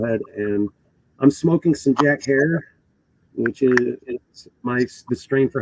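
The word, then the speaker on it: Jack Herer: If you pronounced it Jack Herrera, it's okay. I did too, and we were wrong. And it's pronounced hair like terror, so hence Jack Terror.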